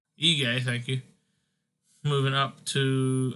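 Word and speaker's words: Ige: featherweight we had dan i forgot to pronounce it egay thank you moving up to 11.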